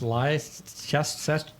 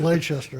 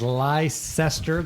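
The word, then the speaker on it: Leicester: I mean, is that pronounced Lester tester? All right, Marica, however you want to pronounce it. Lchester, I guess you go with that. One of the greatest underdog stories in sports history continued as Lysester. There's no H there.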